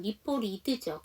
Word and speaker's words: reported: 그런데 이 T 사운드가 앞에 R 사운드가 정확하게 발음이 안 되기 때문에 몸과 몸 사이에 끼면 리포리드죠.